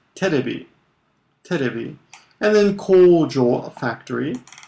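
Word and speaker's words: テレビ: And then TV is pronounced terebi.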